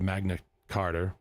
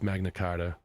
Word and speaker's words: Magna Carta: from the times of Magna Carter. Magna, why is it spelled like that? Times of Magna Carter Charter Charter. Anyways, to the midnight I know it's Magna Carta uh from the mid